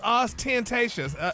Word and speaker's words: ostentatious: in one yeah just just say it all together don't break it up ostent there's no pause you got no there's